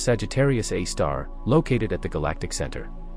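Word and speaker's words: Sagittarius A*: In our own Milky Way galaxy, astronomers focused on a radio source called Sagittarius A, pronounced Sagittarius A star, located at the galactic center.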